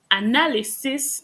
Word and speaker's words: analysis: So the verb is analyze with a Z, but the Analyze. noun analysis, it's the S, This.